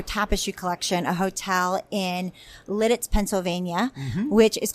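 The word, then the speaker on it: Lititz: And that one's exciting because never pronounced it that way growing up. I had a different way of pronouncing it. How did you pronounce it? Littitz. Of course. But Lidditz, I never heard it pronounced that way.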